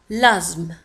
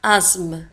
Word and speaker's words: asthme: L'asthme. انتبهوا كذلك لازم تكتب ب S T H وتنطق asthme. L'asthme.